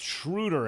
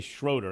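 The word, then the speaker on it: Schröder: yeah yes it's pronounced shruter everyone even though a lot of people say schroeder because that's the way it's spelled most annoying thing about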